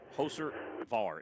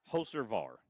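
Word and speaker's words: Hocevar: Let's listen to how his name's pronounced. Carson Hoser bar is the Hoser biggest dumbass Var. in the entire sport. Hoser Var. It's hyphenated. Hoser Var.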